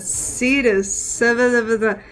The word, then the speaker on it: Cetus: A satia, cetus, it's the Greek mythology sea serpent.